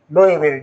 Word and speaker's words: Louisville: Louisville, they pronounce it Louisville. Louisville. Louisville. Even they didn't say Louisville. But it's L O U S. But you never pronounce S.